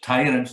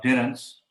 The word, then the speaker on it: tyrants: ionian yes that's important it's tyrants not terrance and also i noticed